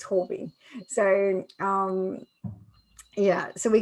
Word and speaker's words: Huobi: how to pronounce that they say it horby okay yeah so when i've gone to their events it's hobby so um yeah so